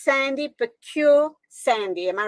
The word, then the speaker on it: Pekeur: right let's correct your name I think I mispronounced it it's Sandy procure Sandy am I right perfectly done yes it's